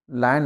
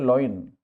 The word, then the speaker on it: lion: General लोग इसको बोलते हैं लॉइन। LI, इसमें आई पहले आ रहा है, ओ बाद में आ रहा है। हम बोलते हैं लॉइन, लॉइन नहीं, लायन।